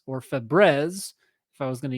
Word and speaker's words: Febreze: that's a Mandela effect okay next one up Febreze you might have this at home and use it every day it says the article but failed to notice the air freshener brand is spelled Febreze or Fabrez if I was going to use a French